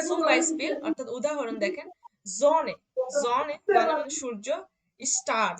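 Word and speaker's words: Sonne: ওকে, সুম বাইস্পিল অর্থাৎ উদাহরণ দেখেন, জনে, জনে, জনে মানে সূর্য, স্টার, এই দেখেন এস, এস এর পরে কি ছিল, ও ছিল, মানে ও ভাওয়েল ছিল, আচ্ছা, তখন এর উচ্চারণটা কি ভাওয়েল আছে। হয়েছে, জনে হয়েছে।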